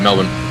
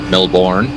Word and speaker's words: Melbourne: Uh yeah, Melbourne. Melbourne. Melbourne. Okay. Like the ultimatum. Melbourne. There's no Melbourne. Yeah. Melbourne. We don't do final syllables in Australia.